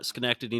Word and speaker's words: Schenectady: And Derek, you're going to have to help me out with how you pronounce the city you guys are located in New York. Sure. So we're in Schenectady, New York, or Rotterdam, New York.